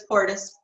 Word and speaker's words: Porteous: Porteous. You can say it however you want, but it's Porteous.